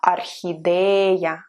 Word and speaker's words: орхидея: And o can remind you of orchid in English, and in Russian we say орхидея, орхидея. So o in the beginning, but pronounced as a.